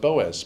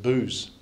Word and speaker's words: Boaz: and they said, and Salmon was the father of Boaz, but in America they pronounce it booze, you see.